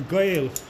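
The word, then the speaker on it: Gael: of Wales that gave us the name a Gail ail g a e l in Welsh it's spelled spelled differently in Welch I think it's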